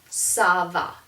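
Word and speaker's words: ça va: be an s sound and so this is pronounced sava and don't forget and saba means literally it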